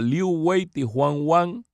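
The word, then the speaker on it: Liu Wei Di Huang Wan: Se pronuncia Liu Wei Tijuan Wan o Liu Wei Tijuan Tan, o también se puede decir Liu Wei Tijuan San en extracto seco.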